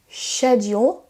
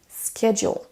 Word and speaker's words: schedule: En premier, on a le mot schedule, qu'on peut prononcer de deux façons, schedule, avec un son ch au début, ou schedule. Schedule, schedule.